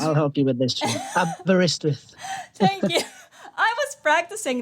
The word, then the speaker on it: Aberystwyth: After graduating into 2012 from, Aberystwyth. I'll help you with this. Aberystwyth.